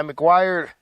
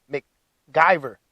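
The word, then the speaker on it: MacGyver: But I McGuire. That's how you say it, McGuire? McGyver.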